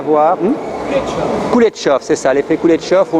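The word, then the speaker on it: Kuleshov: C'est l'effet Kublekov, je pense, peut-être que je le prononce mal, où on met deux images qui apparemment n'ont rien à voir. Kuletchov, c'est ça, l'effet Kuletchov, où on met deux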